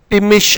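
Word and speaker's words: Thimmesh: अब टिमिश में TH भी आया है। अब अगर TH आए तो फिर ये थी थे था पढ़ा जाना चाहिए, लेकिन ऐसा नहीं है, यहाँ पे H साइलेंट है।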